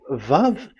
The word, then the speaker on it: Vav: So the word, the shape Vav is really pronounced V, like Vogue. That is it, pronunciation. So here in this side, it's pronunciation. This is pronunciation. So according to the old Hebrew word today, those who, the owner of the words, I mean, so it's a V. So don't change it into W.